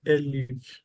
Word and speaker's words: elif: So instead of using this else, can you use elif? Elif, Yes. like E, then like this. I before the F. Spell it.